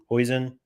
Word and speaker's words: Huijsen: Huijsen.